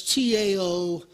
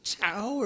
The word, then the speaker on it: Tao: so we're aware that it's tao but the t gets pronounced like a d i i get questions about that all the time is it tower or is it now it's now um so it's taoism